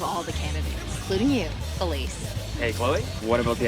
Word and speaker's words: Felice: Which brings us to Felice, head cheerleader and president of the drama club, not to mention that she's also Regina George? Yeah, but her name rhymes with the French word for luggage.